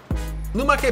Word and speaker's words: lumache: let's go eat luma que pasta yes i triple checked this is how you say it is made from scratch